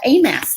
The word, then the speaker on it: AMAS: and one of them today is called the a mass test aim how you spell it it's 8 as an apple and this